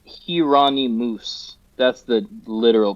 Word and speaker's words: Jheronimus: Well, so the name is pronounced Hirani Moose. That's the literal pronunciation of it. But to have people say that is doesn't work. So Geronomus is kind of how I say it.